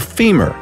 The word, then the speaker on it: femur: By the way, the strongest bone by all accounts is the femur, rhymes with lemur.